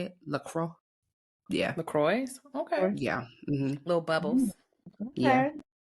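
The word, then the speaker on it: LaCroix: Spritz of how you say it lro yeah lacro okay yeah little bubbles yeah it's really good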